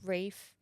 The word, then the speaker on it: Ralph: Ray fiends even though it says Ralph like that's how it's spelled and you say Rafe Rafe Ray Fiend I